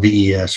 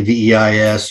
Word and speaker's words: VEIS: Personally, one, I'm partly because I guess I'm lazy, but I just call it VES, right? I say the I is silent, even though my class may say VEIS, or my instructor shirt may say VEIS on it.